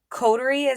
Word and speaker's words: coterie: I know you had explained it to me, but if you would explain it to my audience, coterie am I saying it correctly?